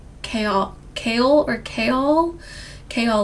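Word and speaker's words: Chaol: Kol like chaos but with an L.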